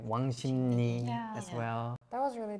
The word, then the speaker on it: 왕십리: Because like letter by letter is 왕십리. Yeah. But when you put that together, 왕십리, so 리 changes into ni.